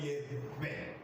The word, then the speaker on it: Yewe: But it's called Yewe, as if you are going to blow a candle.